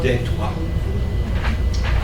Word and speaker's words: Detroit: correct pronunciation is Detroit. It's French. So notice that we are living in Michigan, which was a place where Native American people lived.